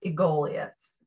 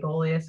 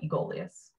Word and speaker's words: Aegolius: the genus correctly pronounced it's pronounced egoleus um looking at it i always want to say aegolius or golius or something that that is uh egolious and you mentioned in